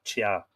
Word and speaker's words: Tea: rampart of tia now her name is is spelled t-e-a which you would be inclined to think of in terms of a cup of tea but in irish i'm pretty sure that would be pronounced chia in both cases the